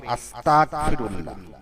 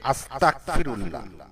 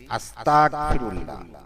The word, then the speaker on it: আস্তাগফিরুল্লাহ: ইস্তেগফারের সব উচ্চারণটি হবে আস্তাগফিরুল্লাহ। কিন্তু অনেক উচ্চারণ করে আস্তাগফিরুল্লাহ। অর্থাৎ গ এর জায়গায় ক যোগ হয়ে যায় হয়তো অজান্তে।